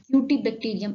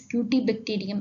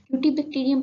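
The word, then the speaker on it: Cutibacterium: UT bacterium acnes or I pronounced it incorrectly here. Here the bacterium name is cutie bacterium acnes. Cutty bacterium acnes.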